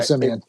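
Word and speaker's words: Siemian: Let me pronounce that for you. Yes, Trevor Simeon.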